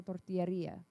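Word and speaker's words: tortillería: It's the emphasis on the right syllable. It's a tortilla-ria.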